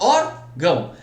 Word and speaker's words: órgão: Gente, mas a sílaba tônica é o ão? Não é. A sílaba tônica aqui no caso é o or.